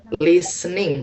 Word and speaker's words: listening: Listen to listen listening. Listening. T-nya enggak usah dibaca.